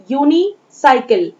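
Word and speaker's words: unicycle: Next column B, sound of यू एज इन यूनिसाइकिल। यू की ध्वनि यूनिसाइकिल word में या के समान है, ना कि अ के समान।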